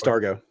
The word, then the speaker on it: Dargo: say it do you say it yeah it's Dargo Dargo okay I'm a Dargo fan and I